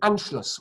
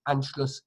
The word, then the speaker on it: Anschluss: a title, N, S-C-H, because sh in German is spelled S-C-H, and then L, U, and then an S set.